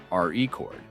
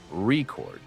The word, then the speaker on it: record: For example, in the word record, the stress is on the first syllable re chord when it's used as a noun and on the second syllable record when it's used as a verb.